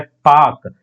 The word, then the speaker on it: Palk: इसका स्पेलिंग देखिएगा, अगर PALK होता है, लेकिन एल जो है साइलेंट रहता है, इसे पढ़ते हैं पाक।